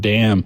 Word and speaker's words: damn: That's a waste of time unless it's the word damn. And then you don't have to pronounce the N.